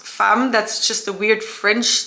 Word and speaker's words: Femme: trust me it's pronounced fam that's just a weird French thing they put an e but they pronounce it as an a just so you know